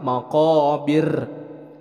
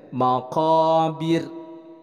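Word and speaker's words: مقابر: Nah, ini adalah hukumnya tarkik, dibacanya tipis. Jadi bukan maqabir, tapi dibacanya maqabir.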